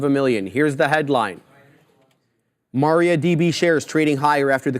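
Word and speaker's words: MariaDB: look at mrd Maria mariad how do you say that Maria dab Maria Maria DB Maria DB yeah it's a cloud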